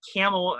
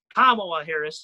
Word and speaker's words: Kamala Harris: like if somebody says the vice presidential candidate camel or kamala harris that's going to sound really bad kamala harris is the actual name of the the democrats